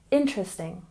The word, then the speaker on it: interesting: And interesting, we stress the first syllable, interesting, interesting. It's not book, book, book.